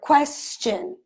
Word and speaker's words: question: Or question. We have the ch sound. This T-I-O-N in English is actually pronounced as ch or sh sometimes.